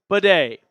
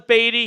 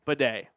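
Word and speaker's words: Badie: He said that it was Beatty. He never said anything, but ultimately he addressed it to the media and said, by the way, it's pronounced Bidet.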